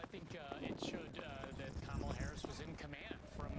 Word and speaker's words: Kamala: I think that she also wanted to make sure she took the time to introduce herself to former President Trump as Kamala Harris, which is how you actually pronounce her name.